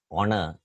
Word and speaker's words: honor: we pronounce this word the initial H is not sounded it's silent we pronounce this word as Honor even with words which